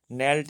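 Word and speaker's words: knelt: नेल्ट में जो है ना साइलेंट लेटर कौन सा है, तो जब के और एन एक साथ आ जाते हैं तो वहाँ पर के साइलेंट रहता है, हमेशा इस बात को ध्यान रखना।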